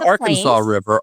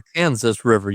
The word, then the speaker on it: Arkansas River: Not Arkansas River. Our Kansas River, you pronounce it, right?